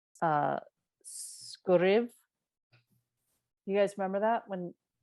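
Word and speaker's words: sguiribh: And he says, phonetically, it's like skuriv.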